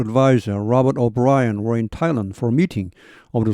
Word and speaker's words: Thailand: 여기 발음이 TH가 트와 같습니다. T 발음입니다.